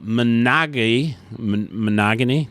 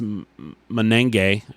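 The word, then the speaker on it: Monangai: Kyle Monagany, it's just Menenge. Oh, I think I said it right there.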